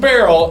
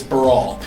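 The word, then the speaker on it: Baral: Not pronounced barrel, it's Brawl.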